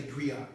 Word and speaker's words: griot: A lot of people who say griot say so because they're under the misunderstanding that it's French, but it's not French. If you look up the word storyteller in a French dictionary or ask a French person, they're not going to say griot or griot. My attitude, griot or griot, as long as you say it with respect, and don't call me